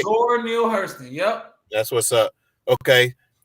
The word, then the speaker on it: Zora Neale Hurston: Zora Neale Hurston, yep.